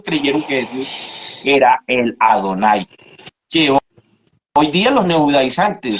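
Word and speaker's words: אֲדֹנָי: la traducción de la palabra hebrea adonay que viene compuesta de la letra d nun y y y se pronuncia adonay así que Tomás le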